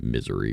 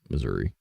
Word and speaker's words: Missouri: Maybe I'm pronouncing that wrong too, but it's not Misery, but Missouri.